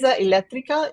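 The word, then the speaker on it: elettrica: word with the T and then this part of the word so I say electria so I'm getting that little bit of a pause but my brain just thinks of it as as a syllable that ends with t and one that starts with T so laa electrica is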